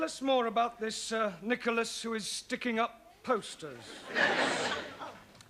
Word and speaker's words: Nicholas: upon a times there was a man called nickel ass that's not quite right no no once upon a time there was a woman called nickel ass it's pronounced Nicholas all right once upon a time there was